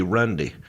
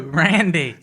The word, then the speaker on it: Randy: He said practicing his Randy Savage elbow, but he pronounced the word Randy Rundy. Did I say Rundy? See, he can't. No, Randy.